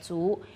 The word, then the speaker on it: 族: 这个族，民族的族呢是没有卷舌的，族，民族，